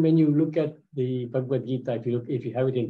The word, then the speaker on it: Bhagavad Gita: So I notice many times people pronounce Bhagavad Gita as Bhagavad Gita. So there's two scriptures. There's Srimad Bhagavatam and there is Bhagavad Gita. So here you can see on the B there is no mark.